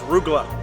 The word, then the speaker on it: Rugelach: She said it was Rugelach.